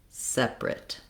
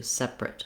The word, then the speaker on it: separate: want to be length I want to have length and a clear vowel on the sep just like I do in separate but then my last two syllables just get switched to separate separate um H so